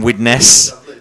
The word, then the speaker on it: Widnes: Thanks for dressing up for the occasion in Widnes.